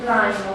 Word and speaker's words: climb: Silent B in the verb to climb. To climb, we don't pronounce the B, etc.